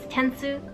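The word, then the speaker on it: 点数: score on something is tensu. The way I remember this word is I link it to an English word actually, so it kind of sounds like the word tense.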